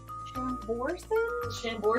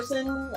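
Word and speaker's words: Chambourcin: c i n i don't know how you pronounce that shambor shambor I don't know moons Mooney has all kinds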